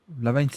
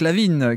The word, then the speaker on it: LaVine: Lavigne, c'est ce qu'il faut pas dire, justement, la mauvaise prononciation. Zach Lavine qui continue un peu de faire ses trucs habituels.